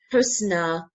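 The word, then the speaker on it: حسنى: Okay, we can see a ya in the end, but we don't pronounce it. We pronounce it kind of alif sound, sound, kubra, husna, sughra.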